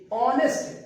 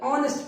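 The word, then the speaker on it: honest: ऑनेस्ट एच से start करके आ निकलता है, ऑनेस्ट पढ़ा जाता है, आ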